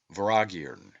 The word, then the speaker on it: Vortigern: The T is silent and M is inflected, as is common in the Celtic, and is given the sound of V. The word is phonetically pronounced Voragirn and signifies a great lord, a prince, or ruler.